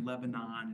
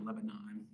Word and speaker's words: Lebanon: with Town names like Lebanon is you know Lebanon so you hear on the radio today in Lebanon New Hampshire we all laugh because nobody says Lebanon they also get in